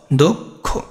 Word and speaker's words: দক্ষ: যদি তোমার ক্ষিয় থাকে তাহলে ক প্লাস খ, দক্ষ, একদম সিম্পল।